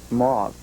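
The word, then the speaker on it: mauve: would you pronounce that Mo okay well I pronounce it Mo and that's still the way it is in most most of the dictionaries but again since many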